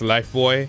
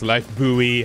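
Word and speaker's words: Lifebuoy: thing the life boy in the UK we pronounced this life boy in the US it's pronounced life buoy how bizarre yeah and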